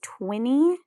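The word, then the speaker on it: Twiny: Uh my name is Twinny. T W I N Y. Um you say it like twin like like somebody has a twin that looks just like them.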